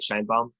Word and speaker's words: Shienbaum: That's how you say it, right? Shienbaum. Yeah, Shienbaum.